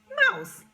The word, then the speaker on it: mouse: Here's a word that rhymes with house. It is mouse. How do I know that? Mouse, mouse. And that E again is silent.